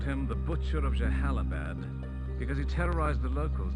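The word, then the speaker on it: Jalalabad: Like that he pronounced Jahalabad because I never knew how to say it, and even last week we were both like Jalalalabad. So Jahalabad is it.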